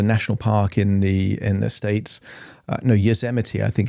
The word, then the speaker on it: Yosemite: this hypnosis session is the, I think it's Yosemite, is a national park in the States. Yosemite, I think it's actually pronounced now I think about it.